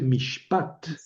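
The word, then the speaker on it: מִשְׁפָּט: Este es un dagg que hace que la pronunciación sea f, perdón, eh, hace que la pronunciación sea p en vez de f. Ahí dice mishpat.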